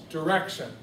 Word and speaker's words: direction: direction sound good there how do you say direction direction so the middle beats getting that emphasis there so I typically